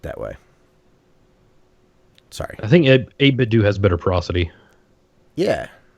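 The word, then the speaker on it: 8BitDo: to help you pronounce 8bit do he said his name like Nintendo but instead of but instead 8bit do so she be like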